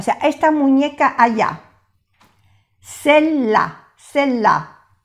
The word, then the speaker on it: celle-là: Celle-là, celle-là. No se pronuncia la E y se hace celle-là, celle-ci.